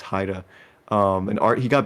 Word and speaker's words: Haida: uh I made a mispronounce it it's Haida it's not ha it's Haida um and art he